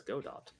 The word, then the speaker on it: Godot: practicing all night believe you're all saying his name wrong I'm pretty sure it's Godot think I might meet gdo but I I